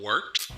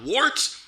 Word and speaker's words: Wort: It is the Wort. Not wart, not fort, not short.